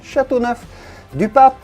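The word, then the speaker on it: Châteauneuf-du-Pape: your selection chateauneuf-du-pape if you're wondering how to pronounce this i know it's a tricky one chateauneuf de pape and of course another one that you had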